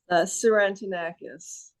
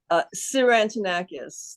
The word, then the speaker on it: Sirantinakis: Sirantinakis. Just say it one more time, please. Sirantinakis. The T is silent.